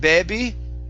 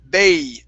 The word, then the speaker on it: baby: go good okay um long a sounding baby instead of baby it's a diphthong sorry baby that long a sound got my vocal cords wow so bae baby baby baby that's it okay so uh found him as a baby found him as a baby oh almost you lost it so what you're what you're saying is baby you're only pronouncing an e sound so what you want is a bae baby okay baby that's